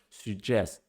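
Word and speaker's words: сюжет: Now, suggest is spelled in Russian Syuzhet, and it's pronounced like we pronounce the word in French, suggest.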